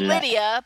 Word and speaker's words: Lydia: Welcome Lida? to the fun. I think that's how you pronounce it. Lida? Nope, Yes, she's it's Lydia because she didn't put an I in her name.